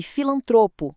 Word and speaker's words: filantropo: E filantropo, gratuito, público e recorde são todas paroxítonas.